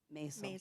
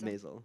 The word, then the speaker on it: Maisel: Maisel. Maisel, okay.